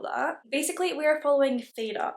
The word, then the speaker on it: Feyre: Basically we are following Feyre, I believe is how you pronounce her name. It did say in the book that it's like Feyre. So we're gonna call her Feyre.